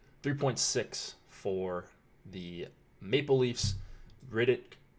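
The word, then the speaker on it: Rittich: for the Maple Leafs Riddick Riddick I believe is the correct pronunciation and then Freddie Anderson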